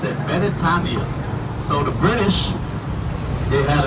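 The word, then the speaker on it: Beretania: Also, the first car driven on island was right here on So, Britannia is how you would say Britain in Hawaiian. Except they pronounced it Benetania.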